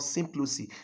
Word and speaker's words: Symploce: successive lines, it becomes what we call symplocy. Symplocy is spelled Symploce.